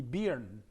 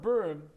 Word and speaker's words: Byrne: is in cyrillic now if you were to pronounce it in cyrillic his name would be beern but it's robert byrne now robert burton who's